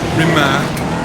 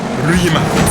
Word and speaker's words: Rimac: It's not Rimac or Rimac, it's Rimac.